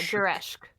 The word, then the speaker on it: zereshk: So you do pronounce the second E? Oh, it's Like Zeresh. yeah, Zereshk. Zereshk.